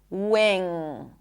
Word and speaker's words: wing: And as you can hear I do not pop the g. Wing. There is no g sound.